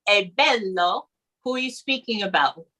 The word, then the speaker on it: bello: now be careful because um the word bello is spelled b-e-l-l-o so it's not bellow because what happens is um in other languages